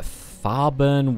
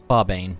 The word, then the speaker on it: Farbane: So we're going to enter Farburn Woods, I think. I just may have mispronounced that. Farbane, that's it.